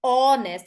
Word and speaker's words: honest: this word makes is honest it doesn't say Hest yes exactly because H is silent uh not histori no